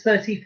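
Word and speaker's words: trente: Number 30, T-R-E-N-T-E. 30. 30. So it's like Trent with an E at the end. But you don't pronounce the E.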